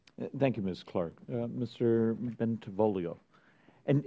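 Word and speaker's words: Bentivolio: you miss clark mr bentavolio and am i getting close and pronouncing it right you did it perfect wow ben devolio you got to sing it when you say it you'd never want me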